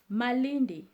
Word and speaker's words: Malindi: the next town is Malindi morality Murray D well Kikuyu is not that difficult basically what happens when you have the L you just have to pronounce it as R so you see like